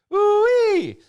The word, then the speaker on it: Oowee: Ooh-wee.